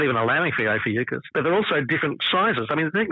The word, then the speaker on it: Ophiuchus: Someone just announced that it was there, which I've always pronounced it Ophiuchus. Others are saying Ophiuchus, but yeah, Ophiuchus, which is... Yeah, Ophiuchus is how I've always pronounced it. Yeah, I've been a hard C. I'm, Greek background, it's a Greek language.